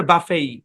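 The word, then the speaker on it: buffet: আমেরিকানরা এটাকে উচ্চারণ করে বাফেই সেম বানান বাফেই হ্যাঁ বাফে বুফে দুটাই সঠিক বুঝতে পেরেছেন ওকে আশা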